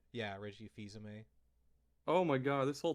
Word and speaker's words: Fils-Aimé: That's There how you was pronounce his last name? Yeah, Reggie Fils-Aimé. Oh my god, this whole time I've been thinking it was Phil's aim.